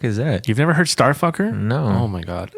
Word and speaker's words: STRFKR: Number 2, Starfucker. What the fuck is that? You've never heard Starfucker? No. Oh my God. It's actually like it's spelled STRFKR, but Starfucker.